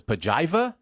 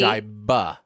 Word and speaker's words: Pajiba: Evan in the chat says Pajiva. No, I believe it's with a B. It's with a B. Pajiba.